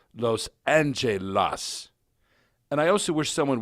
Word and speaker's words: Los Angeles: with the so-called jury Los Angeles should be pronounced as it reads that is Los Angelas and I also wish